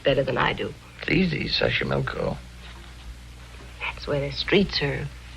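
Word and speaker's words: Xochimilco: oh it'll be wonderful Mexico City taxo pbla Sashi milco okay so you pronounce it better than I do easy Sashi milco that's where the streets are paved with flowers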